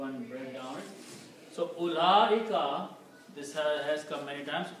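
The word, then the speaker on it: أولئك: So, ulaika, one thing you should notice that this little circle on waw, we should not read the waw. That means this waw is silent. So it's ulaika.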